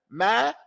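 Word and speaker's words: مَنْ: Man. I'm not going to say min. From the meme to the noon with no fatah.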